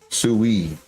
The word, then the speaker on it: Sui: here okay CJ says I've been calling it s Su sui for a while just found out it's actually pronounced sui see wi says I